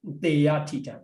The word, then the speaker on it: Paṭipatti: Because of double consonant, A need to pronounce in short form.